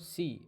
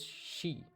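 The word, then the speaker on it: し: इट्स नॉट सी, इट्स शी.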